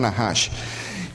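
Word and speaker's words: נחש: En hebreo la serpiente se pronuncia Nahash.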